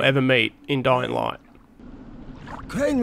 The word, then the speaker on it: Crane: Crane rhymes with train and brain and sane and grain.